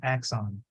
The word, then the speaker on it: axon: I saw okay yeah no you have to pronounce the X it's very difficult because you know and it is for us Vietnamese is very difficult to pronounce X so you have to pronounce it so axon X song Yeah x so X you know Exon okay yeah so like this this this s have to be strong so axon all right okay all